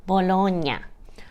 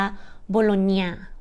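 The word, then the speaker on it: Bologna: เมือง โบโลนยะ โบโลนยะ เนาะ ห้าม อ่าน ออก เสียง โบลอก หน้า นะ ห้าม นะ อาจ จะ ได้ ยิน ว่า โบโลเนีย โบโลนเนีย เนาะ แบบ ไส้ กรอก อะไร แบบ นี้ เนาะ หรือ แฮม เนาะ แต่ ว่า จริง ๆ แล้ว เนาะ ชาว อิตาเลียน เรียก เมือง นี้ ว่า โบโลย โบโลน ซึ่ง ตัว เอิ่ม กับ N จะ ออก เสียง เยอะ เยอะ ที่ ใน ภาษา ไทย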